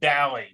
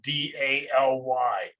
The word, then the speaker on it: Daly: is bailey but a lot of people will pronounce my name dally because i spell my name d-a-l-y when i say my full name this is daly they know how to